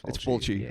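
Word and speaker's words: Fulci: But most importantly, it was Luchio Fulky's zombie 2 aka sometimes they pronounce it Fulgi. I've known Fulchi. It's Fulchi. Okay.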